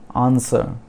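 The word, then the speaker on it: answer: फिर आंसर, आंसर इसके meaning है उत्तर, आंसर, तो इसमें भी W साइलेंट है।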